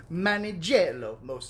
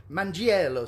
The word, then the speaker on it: Mangiello: So Melanie Manigello. Crap, I said it wrong. Mangiello says she had to stop driving for a moment.